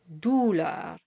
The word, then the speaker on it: douleur: And the second challenge is making sure you have a very round sound in douleur. So you have to work at it, otherwise it could fall into douleur. So it's douleur. And douleur rhymes with fleur.